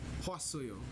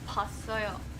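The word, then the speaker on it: 봤어요: It's pasoyo. Again, we're Pasoyo. combining syllables because it ends with the vowel o. So that means we add asoyo to it. Oh, so you don't say like the poa. You just say pasoyo.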